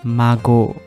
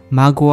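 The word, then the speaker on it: 孫: The pronunciation is mago. We call mago. Mago wa nannin desu ka?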